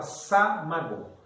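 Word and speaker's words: самогон: Aqui nos Estados Unidos é chamado de lavagem de açúcar, o wash, e na Rússia nós chamamos de samogon. Se escreve samogon, mas se fala samagon.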